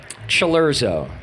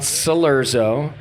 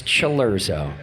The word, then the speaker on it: Cilurzo: one of only three people on Earth that pronounce his last name correctly chero right it is not salero it is not it's luro and I've worked for 10 years to get